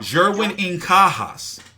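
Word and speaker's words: Jerwin Ancajas: How do you pronounce his name properly? I need to get this right. Jerwin Incajas.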